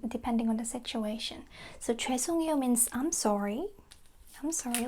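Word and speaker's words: 죄송해요: But, I just want to emphasize that again, we don't say hae, we say ae to make it smoother.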